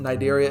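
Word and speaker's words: Cnidaria: Once again nidaria is spelled with a c. So the c is silent.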